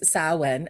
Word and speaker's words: Samhain: and difficult because um it is saen um sa when um in Celtic which is s m ha a a i n which makes no sense if you're